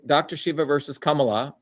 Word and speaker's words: Kamala: Shiva versus Kamala. And that's how you say it, Kamala, with the Tamil Indian accent, not Kamala. It's Kamala.